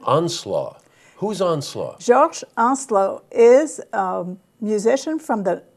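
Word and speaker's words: Georges Onslow: I'm pronouncing it in the French way. I'm being left in the dust here, so I'm going to move on. Georges Onslaught.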